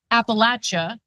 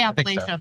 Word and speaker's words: Appalachia: hillbilly elegy was ridicul my daddy was born in Appalachia that's the right way to say it right I used to say Appalachia but I don't think it's right yeah and JD isn't